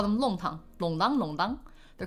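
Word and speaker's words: 弄堂: Let's talk about Shanghainese longdang. In Mandarin Chinese, we've transliterated to nongtang. So if you see like longtang, it's written like a nong, but it's pronounced like long.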